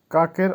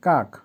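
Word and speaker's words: как: কাক, কাকের অর্থ হবে কিভাবে। উচ্চারণ হবে কাক।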